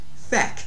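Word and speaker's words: feic: word to see the Irish verb to see feck is spelled like is pronounced Fe and it's spelled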